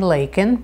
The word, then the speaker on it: Leikin: I'm Leikin, rhymes with bacon.